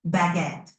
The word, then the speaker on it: baguette: How about baguette? That's a good one. It's pronounced almost like it looks, baguette, with a little emphasis on the second syllable. Give it a shot. Baguette.